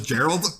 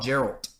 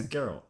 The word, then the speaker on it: Geralt: Did you say Gerald? You thought it was Gerald? No, Geralt. Henry I Cavill. thought it was wrong. a soft G. No, you would be a fool. Yeah, Gerald Way. Yeah. It's Geralt.